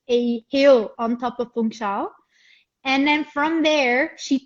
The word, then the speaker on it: Funchal: Funchal. Funchal. Funchal. Yes. Okay. And so she hiked all the way up to Monte, which is a hill on top of Funchal.